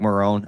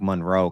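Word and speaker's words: Marrone: in him uh Doug Marone I I keep wanting to say Doug Monroe because I keep hearing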